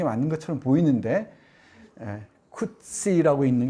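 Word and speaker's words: Coetzee: 쿠시는 쿠체라고 또 발음하는데, 이 쿠시 작품을 대부분 번역한 이 왕은철 선생이 직접 이 작가하고 이메일 문답을 주고받은 바에 따르면은 이 사람이 어느 책의 역자 해설에 나오는데 쿠시라고 있는 게 맞다고 얘기를 합니다.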